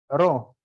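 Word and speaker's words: rho: name what the name ro ro is it Ro or ho which one is silent yeah for those who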